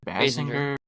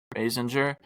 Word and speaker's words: Basinger: Basinger. Basinger.